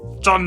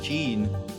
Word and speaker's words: Jean: I always thought it was Jean. John. Let me get back. I am Jean. John, pronounced like spelled Jean.